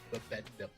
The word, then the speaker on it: Bibendum: Michelin Man is his real name is Bibendum. Bendum? Bibendum. Bendum. Bibendum. Oh, I've actually seen that written, not ever pronounced.